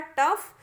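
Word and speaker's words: tough: इसी प्रकार टफ, तो टफ में भी हमने F जैसा प्रोनाउंसिएशन किया, GH को नहीं किया।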